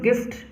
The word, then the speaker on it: gift: और GIFT में यहाँ पे आई के साथ है, लेकिन इसका हम लोग जिफ्ट इसका प्रोनाउंसिएशन नहीं करते, इसको हम लोग गिफ्ट पढ़ते हैं।